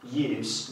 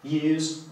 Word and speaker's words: use: Jeżeli używamy tego słówka w ten sposób, use, mamy na myśli użycie, użytek z czegoś. Jeżeli używamy tego słówka z głoską dźwięczną, czyli z, use, używamy go jako czasownika, czyli w znaczeniu używać. Okay?